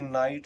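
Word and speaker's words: night: ऐसे देख लीजिए नाइट देख लीजिए। नाइट इसमें भी जीए के बाद क्या आ रहा है? टी आ रहा है। तो जी एच हमारा साइलेंट पढ़ा साइलेंट हो जाएगा। इसमें जी एच नहीं पढ़ा जाएगा।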